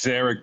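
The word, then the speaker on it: Szarekh: dyslexia um so it's zeric but the S is silent uh yeah kind of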